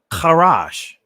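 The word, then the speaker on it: חרש: Here's another word, karash. Let me say it again. Karash. I'm saying it from the ancient Hebrew pronunciation.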